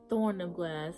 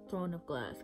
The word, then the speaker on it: Throne of Glass: But I'm reading Throne of Glass because I keep pronouncing it Thorn of Glass, and it's like by accident, and I don't know why. But I am aware it's called Throne of Glass.